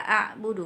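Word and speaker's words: أعبد: tuh main mati itu kebanyakan orang bacanya ke ini a good mata bodoh gitu lah a'budu mah ta'budun gitu Nah itu salah besar ya karena merubah huruf Ain menjadi huruf hamzah itu nanti bisa berubah artinya gitu Jadi yang benar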